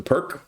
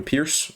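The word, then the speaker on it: Pirc: of transposed here into the the perk or the pierce however you want to pronounce it where the standard king's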